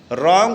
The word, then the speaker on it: wrong: तो रॉन्ग शब्द जो हम पढ़ रहे हैं RONG, रॉन्ग है आपका WRONG, तो डब्लू जो है मुख है, आपका आंसर हो जाएगा ए नंबर।